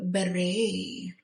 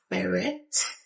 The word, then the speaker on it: beret: Beret, not beret as English speakers would pronounce it, but beret.